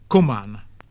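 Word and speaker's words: cuman: The letter C had the sound of K before A, O, U, and Y, and occasionally before E, but the sound of CH before I, and usually E also. The pronunciation of the same words in modern English will often show which it was. So kan, can, kuman, come, kuning, king, kene, keen, but child, child, cheozan, choose.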